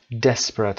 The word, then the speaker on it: desperate: desperate استرس روی des هست.